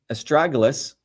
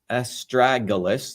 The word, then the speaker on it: Astragalus: So again, as I started off, estragalus, estragalus, that's the way you pronounce this, is known as a guardian root.